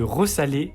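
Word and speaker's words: resaler: Il existe 3 verbes pour lesquels on ne rajoute pas de deuxième S. Mais on fait le son comme s'il était là. C'est le cas de ressaler, ressalir et resituer, qui se prononce bien comme ça, même s'il ne possède qu'un seul S.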